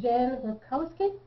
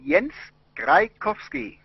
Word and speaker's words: Jens Graikowski: With this one is with Jen Graikowski. Did I say it right? Jens Graikowski.